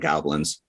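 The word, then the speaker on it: Gobelins: time only because uh it comes from a studio in uh Goblins Paris. So it sounds like Goblins. So I said, "All right, now's the time." Is it spelled like Goblins? There's an E in it. G O B E L I Ns.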